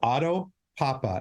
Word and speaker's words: Otto Pappa: Our guest today is Otto Pappa.